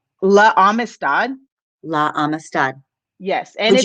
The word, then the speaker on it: La Amistad: like 6 times in school, and it was La Amistad. I don't know if you guys have ever heard of it. What is it called? La Amistad.